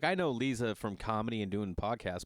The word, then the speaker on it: Liza: so funny Lisa Trager spelt liza but pronounced Lisa she's Russian whatever and